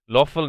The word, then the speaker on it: Löffel: Löffel, now that's an O with an umlaut, so.